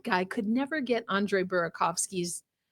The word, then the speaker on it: Burakovsky: could never get Andre Burakovsky's name right. I almost said Burakowski because I got so used to hearing Disco Dan say it wrong.